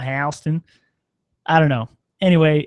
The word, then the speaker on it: Houston: Soho in New York that's south of hon Street they say hon it's spelled exactly like Houston what is that is